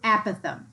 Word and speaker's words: apothem: look at that the a is equal to apothem yes that's the pronunciation apothem the length from the center of